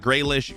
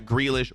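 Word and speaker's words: Grealish: Last week, I called him Jack Greyish. Jack Greish, boys.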